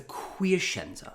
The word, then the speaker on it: Quiescenza: The name of the idiom is the quiescenza. 4 syllables, quiescenza.